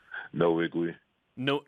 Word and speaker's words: Nwigwe: sure we hear from you have it yeah no iggly note in the wig we yeah okay no wig